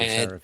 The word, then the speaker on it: Seraphin: Yeah, it's clearly Seraphin. And his name rhymes with Erafin.